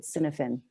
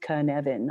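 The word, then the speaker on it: Cynefin: I always pronounced it Synefin. And then when I actually heard it spoken of, I reckon, okay, I got it. It's pronounced Kinevin, although it doesn't look that way. But it's a Welsh word.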